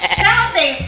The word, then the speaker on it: sellotape: sellotape! solletape (wrong pronounciation) sellotape!